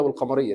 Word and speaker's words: والقمر: والقمر. نطقنا اللام ولا لا؟ نطقناها. والقمر. Because of this sukun, I would say والقمر.